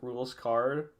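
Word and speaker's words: Rouxls Kaard: pronounce his name uh i think i think his name is pronounced rules card i mean i agree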